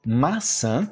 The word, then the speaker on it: maçã: E o maçã, o sã com S e o maçã com C cedilha, o mesmo som, né? A mesma pronúncia. Você, ó, interessante isso, esse san, né, com o C cedilha, o mesmo som desse S no começo.